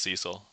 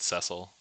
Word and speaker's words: Cecil: I think it's pronounced Cecil. Some people pronounce it Cecil.